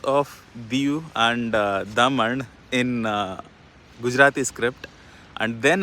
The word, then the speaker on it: Daman: to as down south so we read it as dayu Dio and Daman but it is Daman and deep which are both Sanskrit words I don't know what